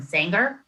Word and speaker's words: Sanger: lot of input from Sanger. I'm not sure how to say it. Sanger. Sire? Sanger. You have to throw a bit of an Okie accent into it. Sanger.